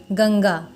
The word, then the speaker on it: गंगा: क वर्ग का अंतिम अक्षर क्या है, अंगा, अंगा के अंतर्गत आ रहा है, इसीलिए हम लोग इसको पढ़ रहे हैं गंगा।